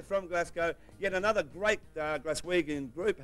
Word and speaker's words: Glaswegian: Yet another great Glaswegian group. How do you pronounce that? That's Glaswegian, Molly.